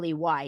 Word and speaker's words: Shirley: It's Nick Shirley, just how it's spelled. Shirley.